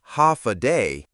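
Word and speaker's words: Håfa adai: Step foot on Guam and you'll hear one word again and again, ha adai. Pronounced ha a day.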